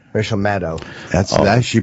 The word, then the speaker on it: Maddow: Oh, Maddow.